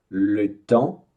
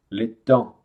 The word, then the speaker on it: temps: Então, ou seja, o tempo, le temps, não pronuncia nem o P nem o S.